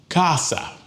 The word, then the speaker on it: casa: Casa. Well, it ends in a vowel, so the stress goes on the second to the last syllable. Casa, not casa. It's casa. Okay.